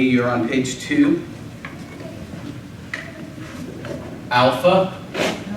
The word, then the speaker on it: alpha: on page two I'll Alpha Al and that's going to be an a like Father beta it's a bu